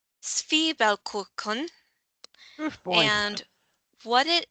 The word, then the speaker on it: Zwiebelkuchen: And once again, relying on Google here, it is pronounced Zwiebelkuchen.